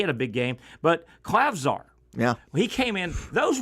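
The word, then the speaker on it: Klavžar: guys through the grapevine that the clav clav clavar is how you pronounce it clavar European kid Slovenian can really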